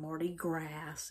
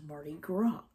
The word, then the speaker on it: Mardi Gras: have a baby once I eat it um Marty gr and it means Fat Tuesday m a r d i g r a s it's not Marty grass it's Marty Gro and um that's the thing about around here